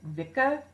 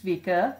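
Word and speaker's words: Wicke: or apparently it's like Vika cuz apparently it's pronounced like it would be in German which is very strange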